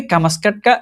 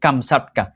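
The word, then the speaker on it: কামচাটকা: কি মেলে না এখানে কামাসকাটকা একটা কিসের নাম দেওয়া আছে উপদ্বীপের নাম দেওয়া আছে এটার আসল উচ্চারণ হবে কামছাটকা।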